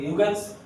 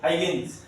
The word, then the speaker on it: Huygens: তো ইউগেন্স প্রনাউন্স করলে কি বলবো, হাইগেন্স, এটা সাইলেন্ট, ইউ সাইলেন্ট, ঠিক আছে, হাইগেন্স প্রিন্সিপাল।